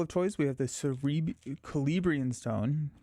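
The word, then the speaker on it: Celebrían: We have the Celebrian Stone. It's a hard. So see, that sounds like a K.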